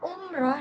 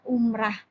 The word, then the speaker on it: umrah: Nah, umroh sendiri itu merupakan bentuk tidak baku dalam bahasa Indonesia. Jadi umroh itu bentuk pelafalan yang dipengaruhi oleh fonetik bahasa Arab atau kebiasaan masyarakat, tetapi tidak sesuai dengan kaidah ejaan bahasa Indonesia. Jadi yang benar adalah umrah.